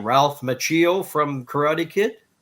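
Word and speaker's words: Macchio: the mailbag from I don't know how to pronounce his last name. Ralph Machio from Karate Kid. Matchio.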